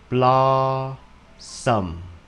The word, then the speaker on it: blossom: Vậy thì mình đọc là blossom. Hả? Dấu nhấn nằm ở chữ đầu tiên.